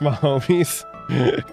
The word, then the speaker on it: Mahomes: It's pronounced Mahomes.